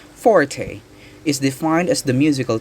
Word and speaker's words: forte: piece quietly or softly number 240 which is pronounced forte is defined as the musical term for loud